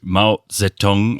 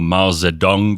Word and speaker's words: Mao Zedong: history let's get into Mao zetong or Mao Zedong depending on how you pronounce it it doesn't really matter it's like phonetic and if you don't speak Chinese if you don't speak Mandarin it's not going to make a difference to you so this guy I